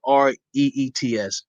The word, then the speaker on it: REIT: We're going to go ahead and give a little overview of the REIT. So REIT, spelled REITS, but it's pronounced like it's spelled REETS, a REIT.